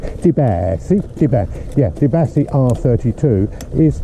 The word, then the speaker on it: Di Blasi: deasi or de sorry to pronounce it correctly I have to say spaghetti like Italian you know spaghetti and then I can say debass Deb yeah debass R32